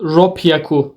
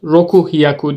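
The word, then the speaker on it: 六百: yon hyaku Go hyaku 600 de de bir istisna var burada rop yaku diyoruz roku hyaku demiyoruz h'nin üstünde yine bir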